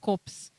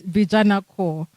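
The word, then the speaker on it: Vijana Corps: It's not COPS, okay? They are not in the business of dead bodies. It's Vijana Core.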